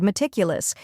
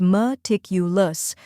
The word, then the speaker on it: meticulous: The correct pronunciation is meticulous. Let's break it down. First, we have m, which sounds like the moo in mud. Next is tik, which rhymes with tick and is the stressed syllable.